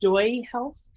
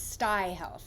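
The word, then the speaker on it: StuyHealth: She is a founder of, is it called pronounced Stoy Health? It's Sty Health. Sky Health?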